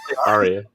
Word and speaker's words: Ariya: Aria.